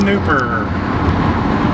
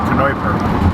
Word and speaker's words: Kneuper: Kneuper. And a silent K on that name. Silent K? Yeah, if you were German out of New Braunfels, it'd be Kneuper.